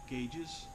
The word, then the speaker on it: gauges: our gauges mounted you ever wonder why it's pronounced gages shouldn't it be GES if you have a